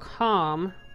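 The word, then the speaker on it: Kalm: So, Bear here suggests that we go to a town called Calm, spelled with a K.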